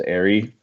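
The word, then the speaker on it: Eyrie: have is it's gonna force people to pronounce the location properly as airy which serves to be pronounced so people don't get it confused at the character Erie in Erie Syrian Airy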